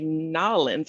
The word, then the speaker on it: New Orleans: march of 2020 and of course they don't say new orleans they say nollens i think so i